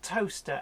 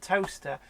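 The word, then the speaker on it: Towcester: another good one if you've heard of a place called toaster and you're looking for a place in the UK on a map there's spelt toaster think again you'll never find it because toaster is spelt Towe sester yeah it took me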